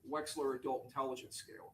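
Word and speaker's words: Wechsler: That would be the weights, the Wexler adult intelligence scale.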